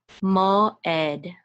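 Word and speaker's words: מוֹעֵד: The ayin is silent, so we're just going to say tzere, which is e, and this is a dalid, which says da. So ed, mo ed, mo ed.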